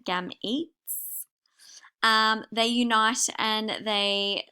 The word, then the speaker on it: gametes: something we call gametes so this is how you say it gam eats um they unite and